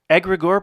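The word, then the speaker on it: egregore: Egregor, pronounced egregor, is an autonomous entity that is created by the thoughts of multiple people working for a common goal.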